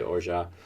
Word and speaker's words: orgeat: You know how I learned how to say orgeat? Is Zsa Zsa Gabor.